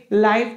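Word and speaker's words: live: में कहते क्या है जैसे आप लोग पढ़े होंगे लाइव टेलीकास्ट अब उसको कोई लिव टेलीकास्ट नहीं पढ़ेगा लिखा तो यही रहेगा वो ठीक है ना इसी को लिप पढ़ते हैं रहना के अर्थ में और जब हम लोग सजीव और सीधा इस तरह से होता है तोब हम लोग इसको लाइव पढ़ते हैं ठीक आप लोग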